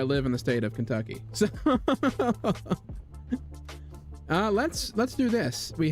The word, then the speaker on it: Kentucky: Make sure, like, so if you want to say it like I do and you had to have my accent, the U has to have a really like pronounced on it. It's Kentucky.